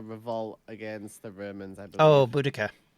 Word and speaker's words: Boudicca: against the Romans oh Boudicca or bodocia depending on who whose pronunciation yeah boudicca's is the more modern pronunciation it was I think the British victorians called bodicea originally uh that's good though